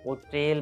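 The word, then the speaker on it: hotel: होटल pronounce करते हैं, बट old time के अंदर इस वर्ड को ओटेल प्रोनाउंस किया जाता था, ओटेल, ओटेल। लेकिन बाद में इसके साउंड को थोड़ा खूबसूरत बनाने के लिए इसका जो एच का साइलेंट साउंड था उसको बोला जाने लगा, इसको जो है फिर होटल प्रोनाउंस किया जाने लगा।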